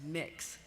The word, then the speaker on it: Mx: MX is the gender-neutral term for Mr. or Miss, and it is pronounced mix.